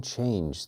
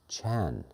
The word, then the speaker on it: Chan: And the word in China, the school in China is Chan. So the Japanese did not pronounce ch. They pronounced it as z. So Chan Buddhism became Zen Buddhism.